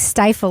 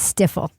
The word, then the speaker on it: stifle: Fun fact, prosecutor Hank Brennan in the Karen Reed case thinks stifle is pronounced stiffle.